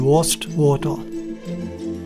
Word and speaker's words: Wastwater: Ja, kleiner Nachtrag zur richtigen Aussprache. Es heißt Worsdale Head und Worstwater.